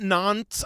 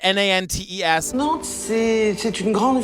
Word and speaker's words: Nantes: So we learn about this town, Nantes, I think is how they say it, Nantes.